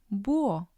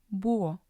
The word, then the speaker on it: búho: For example, hombre, hombre, huevo, huevo, búho, búho. The H doesn't make a sound. It's just the vowel sound.